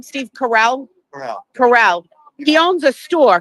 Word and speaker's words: Carell: Carell.